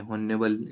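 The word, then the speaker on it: honourable: ऑनेबल, ऑनेबल उच्चारण इसका होता है माननीय।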